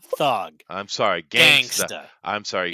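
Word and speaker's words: Thuggee: He was OG gangster, and I do apologize because the word thug does come from India, and it's actually pronounced thugi, and it's talking about radical thug occultists that would go around and beat people to death.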